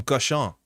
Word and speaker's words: cochon: Ah, comme cochon. You don't say the N.